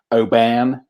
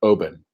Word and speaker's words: Oban: out in the states because saying obam you know like it's pronounced oben you know and they